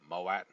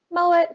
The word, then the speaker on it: Mowat: Mowat? Mowat, Malat, whatever you want to call it is fine. Doesn't matter Sometimes to me. W is pronounced like a V, but not in your case.